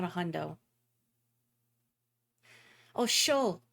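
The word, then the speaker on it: chaud: not a hundo oh show that's how you say hot in French that's right I don't remember if you pronounced the D you probably don't because the French language loves unnecessary consonants you know I'm right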